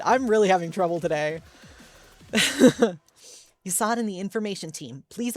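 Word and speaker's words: Chesed: Hesed, okay.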